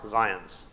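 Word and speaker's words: Zajonc: book by arthur zions you never think that you pronounce this zion he calls himself art zions he's written this wonderful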